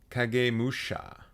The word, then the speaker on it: Kagemusha: right to buy women it's kagemusha how am I as a white person who does not speak Japanese how am I supposed to know that okay fine I will pronounce it it's not that far off from how I pronounced it kagamusha it's pretty close am I the only